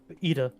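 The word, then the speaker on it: Yda: Like, how do you pronounce her name? Describe her. Membrita? Pop- Ida? Poplio's friend. Ida.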